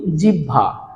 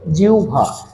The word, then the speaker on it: জিহ্বা: আমরা অনেক সময় বলি জিহ্বা কেউ কেউ বলি জিহ্বা কিন্তু আসলে এটার উচ্চারণ জিহ্বা বা জিহ্বা না এটার উচ্চারণটা হবে জিউভা দেখো জি আছে জি